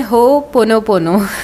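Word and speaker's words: Hoʻoponopono: और सही प्रोनाउंसिएशन है हो पोनो पोनो, राइट।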